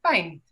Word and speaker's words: pint: Por ejemplo, esta primera palabra se dice pint, mientras que las otras se leen como se escriben.